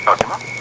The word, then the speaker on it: Cosima: Is that how you pronounce it? Yes, Cosima.